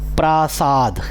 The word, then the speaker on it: प्रसाद: या घर ठीक है तो उच्चारण में ध्यान रखेंगे और एक बड़ी विडंबना प्राय बहुत सारे लोग ऐसी गलती करते हैं शब्द है प्रसाद मतलब मतलब भगवान का प्रसाद और लोग इसमें स्वर भक्ति लगा कर के इसको कर